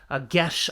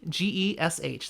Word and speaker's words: geas: How do you pronounce this? And I was like, are you kidding me? Are you kidding me? Gesh. That's how you pronounce it. Gesh.